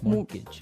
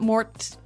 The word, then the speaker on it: mortgage: with a t yeah it has a t in it but you don't pronounce it you say mortgage morgage so not Mort mortgage not morgage morgage